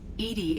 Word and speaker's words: EDI: why are you named Edie Edie is the phonetic pronunciation of EDI that is an acronym for enhanced defense intelligence you have to get